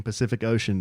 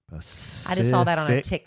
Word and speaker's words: Pacific Ocean: Every C in Pacific Ocean is pronounced differently. Yeah. Pacific Ocean Tok.